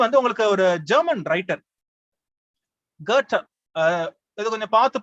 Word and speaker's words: Goethe: அடுத்தது வந்து உங்களுக்கு ஒரு ஜெர்மன் ரைட்டர் கர்ட்டர், இது கொஞ்சம் பார்த்து ப்ரொனவுன்ஸ் பண்ணும். அவரோட ஸ்பெல்லிங் பாத்தீங்கன்னா GOETHE, ஆனா ப்ரொனன்சியேஷன் வந்து வேற. கர்ட்ட, ரைட்டா? அதாவது எப்படி பண்ணுவாங்க, GUHTEH, கர்ட்ட அப்படி ப்ரொனவுன்ஸ் பண்ணுங்க. ஆனா ஸ்பெல்லிங் வந்து GOETHE, கர்ட்ட.